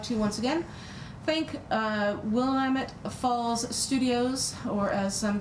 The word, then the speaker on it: Willamette: Willamette. Willamette. Yes, no. It's Willamette. It's Dinamite. No. I've heard it pronounced Williamette.